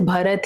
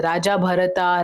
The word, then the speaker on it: Bharata: He's also called as Bharat, he's also called as Bharat, he's called as Raja Bharata, Raja Bharata. So there are different ways his name is pronounced, but it all comes